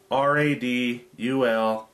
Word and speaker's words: Radulescu: Let me see if I can pronounce his last name. Tony Radulescu. R-A-D-U-L-E-S-C-U. So, Radulescu. Anyway, he had about 16